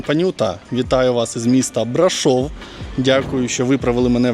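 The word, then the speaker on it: Brașov: Вітаю вас із міста брашов Дякую що виправили мене в коментарях що наголос треба ставити саме на букву о бо я колись вперше як почув неправильно назву брашов з наголосом на А так цього це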